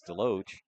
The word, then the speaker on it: Delo: were asking parents what how to pronounce that last name they did tell us it was Delo and as I had